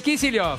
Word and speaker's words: Kicillof: No, Kicillof. Kicillof. Kicillof, vamos de vuelta. Dale. Alberto Fernández y Axel Kicillof.